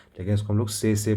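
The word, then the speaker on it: tsetse: नाम लिखा र है लेकिन इसको हम लोग से से प्रोनाउंस करते हैं और इनकी वजह से एक बीमारी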